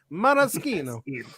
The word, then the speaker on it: maraschino: All right, we're using some maraschino. That I pronounce like an Italian, right? Maraschino.